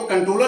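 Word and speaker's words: Comptroller: अब कंट्रोलर लिखा गया है, देखिए पी है। कंट्रोलर को हम जब प्रोनाउंसिएशन करेंगे तो कंट्रोलर ही बोलेंगे, पी साइलेंट है, क्योंकि यहाँ इसका मतलब नियंत्रक ही है, नियंत्रक एवं महालेखा परीक्षक।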